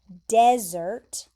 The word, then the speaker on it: desert: So this word is spelled like this word, like desert, but you pronounce it like this word, dessert.